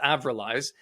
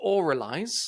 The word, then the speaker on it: Avralize: don't know I think others are also mispronouncing this as as aiz oh yeah um so it's correctly pronounced oraly yes tell me about